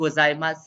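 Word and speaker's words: ございます: is it you and gozaimasu silent yes you and gozaimasu is silent yes somebody asked me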